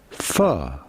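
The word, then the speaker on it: phở: We are looking at how to pronounce in Vietnamese pho. Pho. Pho. Vietnamese soup. Pho. Pho. But the end is more elongated.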